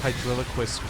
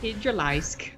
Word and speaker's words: Hydralisk: So I think I ended up calling it like a Hydraliquist or something. Because it. Hydralisk.